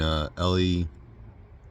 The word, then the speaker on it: Ely: I'm stopped pretty much in between Ely, E-L-Y, I think that's how you say it, and Solon, and it's called the Atherton wetlands.